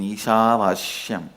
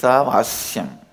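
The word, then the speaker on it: ईशावास्यम्: Listen, my pronunciation Ishavashyam is also Padabeta. How I heard from my masters, I am repeating, but actually it is Isavasyam. Isha is not Vasya. My masters, they use the same Sha to Vasya also. I am retaining the Padabheda as it is, as a respect and reverence to my master's way of pronouncing it.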